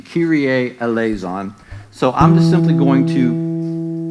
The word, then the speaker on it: Kyrie eleison: we'll be fine um so Kyrie eleison is the pronunciation Kyrie eleison so I'm simply going